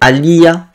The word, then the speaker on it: Aliyah: conversation entre Murphy et Aliyah, la fille de Rey Mysterio, parce que j'ai du mal à prononcer son nom, je vais manger, c'est Aliyah. Ouais, voilà, à l'IA.